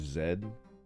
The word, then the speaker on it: Z: Ah, Americans asking why I pronounce Z is zed as if I learned the American English alphabet in elementary school.